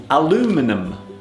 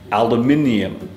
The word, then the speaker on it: aluminium: In American English they pronounce this word aluminum, but in British English we say aluminium, and there it is, aluminium.